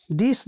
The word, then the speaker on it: the: है, जबकि द adjective this that का कमजोर रूप यानी वीक फॉर्म है। कॉन्सोनेंट स्टार्टिंग नाउन्स के पहले द का प्रयोग हो तो उसे द पढ़ा जाता है, जबकि वॉवेल स्टार्टिंग